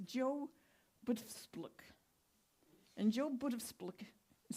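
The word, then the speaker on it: Btfsplk: And then there's, and I have to read this because it's very dicey, it's Joe Butfspluk. And Joe Butfspluk is spelled B-T-F-S-P-L-K.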